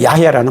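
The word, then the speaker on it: 야훼: 뭐라고 할까요 했더니 여호와 원래는 야해라 발음입니다 야인대 우리 식으로 여호와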